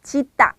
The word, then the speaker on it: 짖다: 자, 우선 시옷 받침의 짓다는 발음을 할 때 중간을 좀 길게 짓다 이렇게 발음을 하시는 게 좋고요. 지읒 받침을 쓰는 짓다는 짧게 짓다 이렇게 발음을 하시면 옳은 발음입니다.